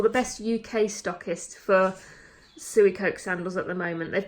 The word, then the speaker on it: Suicoke: And then I'm wearing my Suey Coke sandals. I believe it's pronounced Suey Coke. My friend Alexis said Suey Coke the other week, so I'm just rolling with it.